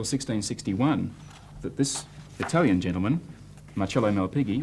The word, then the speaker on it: Marcello Malpighi: And it wasn't until 1661 that this Italian gentleman, Marcello Malpighi, or if you want to be a bit more correct in the pronunciation, you have to use your hands and say Marcello Malpighi.